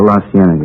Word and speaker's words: La Cienega: Over on, that street out that way, La Cienega. Is that how you say it? Oh, La Cienega, yeah.